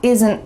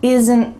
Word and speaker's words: isn't: There's a little sound added between the S and the N. This is called a schwa, and it shows up a lot all over English.